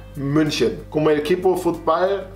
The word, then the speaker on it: München: Creo que en Latinoamérica a veces le dicen Múnich, pero no es correcto, ¿verdad? Múnich es como las estados, las gringos. Ah, pero realmente se pronuncia München.